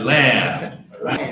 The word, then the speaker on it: lamb: Say that everybody lamb. Okay, the B is silent.